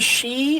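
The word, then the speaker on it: sidhe: that's the pronunciation is she but um it's spelled like s i d h e or something like that like city but it's uh pronounced she.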